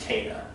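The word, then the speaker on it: Kena: cana yes it's spelled kenna okay but it's pronounced cana that's how they say it in the game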